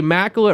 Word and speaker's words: Mackel: name is Mackel it rhymes with tackles that's what you told